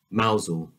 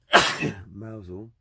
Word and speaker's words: Mousehole: Mousehole is a stunningly picturesque and historic fishing village